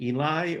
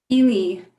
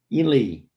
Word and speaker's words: Ely: Is it Eli or? Ely. Ely.